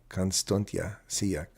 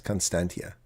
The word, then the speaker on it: Constantia: alien You're an Alien here yes constanti you pronounce uh Constanta seea okay no it's Constantia phonetically um tariffs are misunderstood they are Arctic